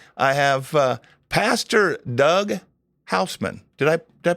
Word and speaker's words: Hausman: And with me I have uh Pastor Doug Houseman. Did I Did I pronounce that right?